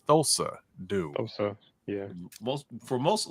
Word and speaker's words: Thulsa: I don't know why you keep calling him Tulsa though it's thulsa do yeah most for most a lot of